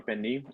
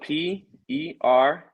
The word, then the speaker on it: pernil: So it's spelled Pernil. In Spanish it's pernil, but in English it would be pernil.